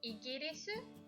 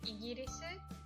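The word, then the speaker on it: イギリス: イギリス obviously we couldn't hear the sound L, so イギリス that was the best we could do.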